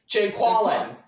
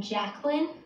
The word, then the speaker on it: Jacqueline: Jaquallen. Where's Jaquallen at? There's no Jaquallen here? Do you mean Jacqueline?